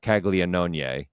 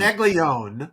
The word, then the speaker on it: Caglianone: Caglione, wwhose name yes, should be pronounced Jack Caglianone, and that's right. But it's and Caglione, it's Caglione. but it should be Caglianone. Caglianone, I believe, if you want to get specific about the Italian pronunciation.